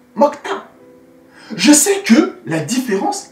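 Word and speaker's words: 먹다: Mok-da. Mais lorsqu'on le prononce, mokta.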